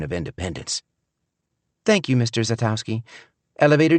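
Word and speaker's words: Szatkowski: If you've got any Polish blood, you know the S is silent and it's pronounced Zatowski.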